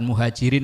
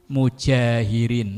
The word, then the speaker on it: mujahirin: Bukan muhajirin loh ya. Mujahirin. Ntar kebalik lagi bacanya.